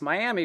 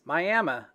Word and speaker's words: Miami: when i was done i've been calling this miami for weeks it's miami a native american indian tribe pronunciation coleman theater was built